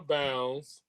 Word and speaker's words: Bounds: a guy named Churchill Bounds not downs but bounds bounds or bounds okay